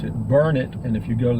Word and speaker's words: Burnet: can't you learn it actually it's most people pronounce it Burnett which is normal but in Burnet Burnett Texas they pronounce it burn it and if you go to the Chamber of